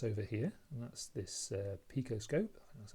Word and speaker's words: PicoScope: So I've now got a new toy that I hadn't got before, and that's over here, and that's this picoscope, that's how you pronounce it.